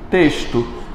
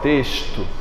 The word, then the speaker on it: texto: não ser isso aqui para mim texto o X tem som de s aqui ó texto é um som de